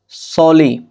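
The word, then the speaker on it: solely: मतलब है इस्ते साल सोली इसको सोली प्रोनाउंस किया जाएगा इसका मतलब है सर्फ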